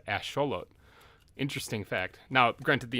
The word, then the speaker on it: axolotl: it's actually aztec so if you're saying it with an american or with an english accent you're gonna pronounce it axolotl the correct way to say it with the aztec accent is asholo interesting fact now granted